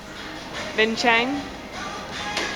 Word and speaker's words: Vientiane: can talk about it the city we're in Vin Chang it's hard to pronounce because it's not spelled that way so get off me I just can't do it anyways we're at a